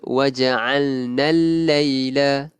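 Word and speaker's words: وجعلنا الليل: Al-laila kat sini kita tidak melafazkan kita tidak melafazkan alif lam. Maksudnya kita bacanya waja'alnal laila.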